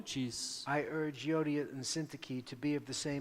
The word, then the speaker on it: Syntyche: Euodias and Syntyche is how they're pronounced in English.